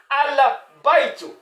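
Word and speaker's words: البيت: quoi dans qui est dans laquelle bien sûr se prononce dans laquelle le alif et le lame se prononce. Donc on va lire quoi ? On va lire al bait.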